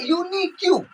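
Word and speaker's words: unique: तो यूनिक्यू, तो उसका उच्चारण यू हो रहा है, इसके लिए ए लग रहा है।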